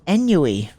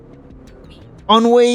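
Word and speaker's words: ennui: sigh a sense of enu how do you say enu am I saying it right or am I being a fool anyi it's said like this on Wei of course it's on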